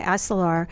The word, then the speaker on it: Isolar: Am I pronouncing that correctly, Davide? Is it Isolar? Correct. Okay, Isolar. Isolar.